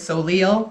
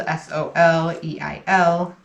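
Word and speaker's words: Soleil: is so leo because my name is um french and so it's spelled s-o-l-e-i-l and a lot of people in america mispronounce it because they don't um know how to pronounce french so instead of calling me solei a lot of people who don't know me will read my name in writing and call me so leo favorite candy favorite candy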